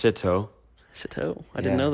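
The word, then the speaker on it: СТО: CTO is Russian. It's actually pronounced Sito.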